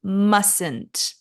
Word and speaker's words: mustn't: prohibition are must not which is contracted to mustn't mustn't be careful with the pronunciation you mustn't do that and cannot which